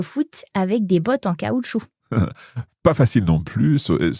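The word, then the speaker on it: caoutchouc: avec des bottes en caoutchou with rubber boots. Cau. Ouais, c'est vrai. C'est amusant. Ouais, on prononce pas le C bizarrement mais on prononce le T par contre.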